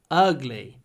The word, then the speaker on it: ugly: ugly it's ugly ugly don't say a uh ugly relax your lips ugly it's such an ugly